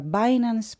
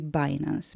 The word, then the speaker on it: Binance: sprzedawania i handlowania kryptowalutami która po angielsku się nazywa binance po polsku można powiedzieć bilanse ja będę używała angielskiej wymowy czyli binance będę też mówiła O